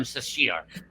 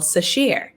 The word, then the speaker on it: Sasheer: so hard to say so this is sheer it's pronounced the same way yes oh great same